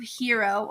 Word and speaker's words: gyro: never even heard of hero or wedge it's us spelled g y r o gyro it's actually hero it's actually yo um